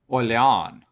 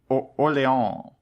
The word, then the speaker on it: Orléans: Orléans. Like New Orleans? No. You have to say it like you're French. Orléans.